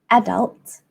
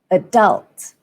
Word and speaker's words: adult: fully grown person and in British English you'd stress on the first syllable as in adult adult and in American English the stress falls on the second syllable adult adult so let's compare that